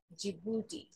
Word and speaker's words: Djibouti: country's name is djibouti d is silent and we start with the j sound which is g and